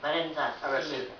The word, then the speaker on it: Valenza: Alors on prononce comment Valenza? Valenza, c'est presque mélodieux.